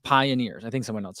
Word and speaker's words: PYNRS: It's pronounced pioneers.